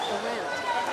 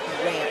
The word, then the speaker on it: Arendt: And it's Blake the Rant. Rant. That's how he likes to pronounce it.